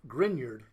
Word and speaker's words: Grignard: called a it looks like grignard but it's pronounced grignard this is a grignard reagent Victor grindyard was the scientist who first